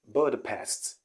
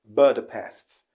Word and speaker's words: Budapest: wrong pronunciation here is budapest budapest budapests the correct pronunciation here is budapest the stress is at the last syllable but the past buddha